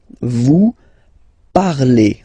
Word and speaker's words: vous parlez: All right, let's see now for vous, vous parlez. Okay, remember a z, when you combine them together, you get the sound e.